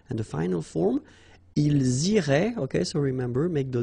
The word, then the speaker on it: iraient: if you look carefully, you get A-I-E-N-T. Okay, but then phonetically it goes like E. Okay, so technically these form and these forms here are pronounced the same way, and it goes like irait.